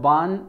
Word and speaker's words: barn: आर जो है यहाँ पे साइलेंट रहता है, लिटिल बिट साउंड रहता है, बार्न इसको प्रोनाउंस किया जाता है।